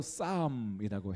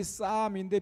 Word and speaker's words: psalm: 영어로 psalm이라고 해요. 英語ではサムと言います。 스펠이 P로 시작하는데요. 綴りが P で始まりますね。 발음이 psalm인데 P로 시작하는 것은 원어가 푸살모스이기 때문에 発 그렇습니다.